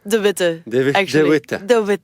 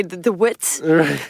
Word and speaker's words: de Witte: about it it's Charlotte D thewi yeah but it's a very Flemish name so so people from England or English speakers usually say the wit so it doesn't really